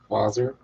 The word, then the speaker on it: Wasser: Nick, a lot of times W is pronounced with a V. Vater. Vaser.